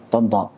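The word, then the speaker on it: Tanta: Tonto. Ejaannya untuk Indonesia pakai A, tapi kita paham itu bacanya to.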